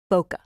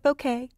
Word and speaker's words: bokeh: Now, the other very cool thing I should show is bokeh. Some people call it bokeh, but the proper pronunciation is bow, like bow tie, and ka, like kettle, keh, bokeh.